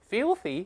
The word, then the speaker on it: filthy: 游客们非常厌恶这里污秽肮脏的环境， filthy 这个词是个书面语，污秽的肮脏的这个意思。